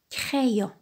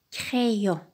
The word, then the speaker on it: crayon: la reine le dit quand le y est placé entre deux voyelles il se prononce y y si on divise les